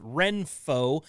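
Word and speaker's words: Renpho: heat made my list Reno is spelled re n p h uh this eye massager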